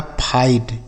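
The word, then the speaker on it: fight: क्या लिखा है लाइट एफ आई जी एच टी तो एफ आई से पढ़ा जाएगा फाई और जी एच एच टी से क्या पढ़ा जाएगा? ट लिखा फाइट।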